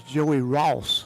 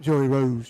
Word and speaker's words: Joey Ross: I stand correct that I said his name wrong. That was Joey Ross. Yeah, not Joey Rose. Joey Ross. Joey Ross.